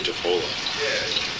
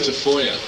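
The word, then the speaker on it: Tafolla: ever happened to Joey defa actually you pronounce it deoya um TFO is a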